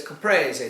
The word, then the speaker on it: Caprese: But it's Caprese.